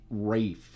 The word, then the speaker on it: Ralph: would know from sh it's actually said Rai fines That's What It Is Well Ralph so anyways it's spelled Ralph but it's Rafe he's a chef Julian